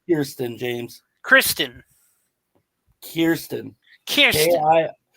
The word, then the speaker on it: Kirsten: Kristen dun and K Christ Christen dun it's pronounced Kiren James Kristen Kiren kir k i k i